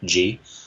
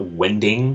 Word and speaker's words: Wendig: Then on Twitter, which is first name, last name, Chuck Wendig, Chuck, Wendig. Not Wending, because people misspell it that way, or Wingding. I'm not Wingding.